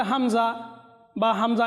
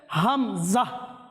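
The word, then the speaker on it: همزة: হরফের প্রয়োজন হয় তো আমরা যদি এটাকে নরমালি হামজা বা হামজা এভাবে যদি বলে দিই তাহলে আমাদের ভুল হবে এজন্য আমাদের সহি উচ্চারণ হচ্ছে হামজাহ হা মিম জা হামজাহ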